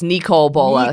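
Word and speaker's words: Nicol Bolas: Sam, the producer, says it's Nicole Bolas.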